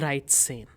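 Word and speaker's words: dreizehn: Hence 13 becomes the right sane.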